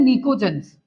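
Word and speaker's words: pnictogens: इनको बोलते हैं निकोजंस। इसमें पी साइलेंट रहता है। देखो पी साइलेंट होगा इसमें निकोज्स।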